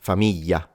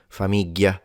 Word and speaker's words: famiglia: simplify it into an L. And instead, people in the extreme south will simplify it into a Y. So, yeah, and it becomes famiglia, famiglia. And then in Sicilian, we just give up and pronounce it like a G, famiglia.